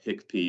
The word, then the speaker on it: HICP: within healthc care that's called hicp or hiccup depending on how you pronounce it it's hicp and